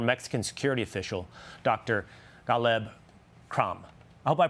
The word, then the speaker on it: Krame: Caleb Cram. I hope I pronounced your last name correctly, Dr. Cram? Absolutely perfect. Cram.